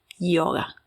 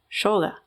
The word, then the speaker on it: yoga: A mí me gusta decirle yoga, como se dice desde la raíz de la fuente de donde nace, ya que la palabra